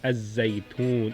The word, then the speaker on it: الزيتون: So if I introduce the definite article is Az-Zaytoon. Watini was Zaytoon. So it's a shams letter, yeah? It's a shams letter, it's a sun letter.